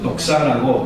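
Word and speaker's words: δόξα: 네, 그리고 헬라 말로 영광을 진짜 독사라고 발음을 해요. 예, 뱀이라는 뜻은 아닌데 그 독사라고 발음을 하잖아요.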